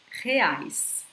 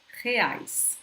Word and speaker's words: reais: I'm going to pronounce it more, okay? But reais, reais, okay?